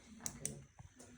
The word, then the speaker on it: Raku: Reiku is a legal pronunciation, Raku, yeah. yes. Raku. It's probably, I think it's probably the proper pronunciation.